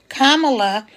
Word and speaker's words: Kamala: unique situation right now because um K La Kama and then La so it's just like if you had a comma and you put a la at the end of it that's how you say her name Kamala is running for